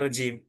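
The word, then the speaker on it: الرجيم: Nah, tadi Bapak bacanya rajim. Benar. Iya. Karena memang seharusnya rajim yang keji.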